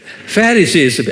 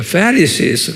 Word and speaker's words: Pharisees: Pharisees, 액센트가 Pharisees 그래요.